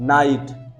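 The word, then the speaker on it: night: नाई और GH silent हो गया, ट, नाइट।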